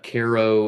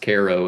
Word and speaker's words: Cairo: It's in Ko, Illinois. Okay. It's pronounced Ko and it's spelled like Cairo.